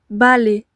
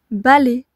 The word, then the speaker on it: balai: Balai. Nous avons donc un seul A. Attention, la deuxième syllabe, les, s'écrit AI. Il y a un A, oui, mais avec la voyelle I, cela donne le son E.